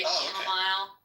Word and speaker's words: chamomile: I just heard my husband say chamomile, and now I heard him say that. Now I realize I do hear people say it like that a lot.